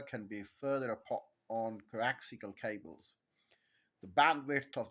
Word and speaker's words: coaxial: Mis pronouncing it not give you the correct pronunciation coaxial so to summarize comparing a wi pair in